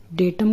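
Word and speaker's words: data: डी ए टी ए इसको डाटा नहीं पढ़ते हैं। अगर आप इसको डाटा प्रोनाउंस करते हो तो वो गलत है। इसका सही प्रोनाउंसिएशन होगा डेटा।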